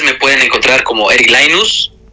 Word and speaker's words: Laynuz: pueden encontrar como Eric linus Eric lainus se escribe la y latina nu Z en cualquier lugar me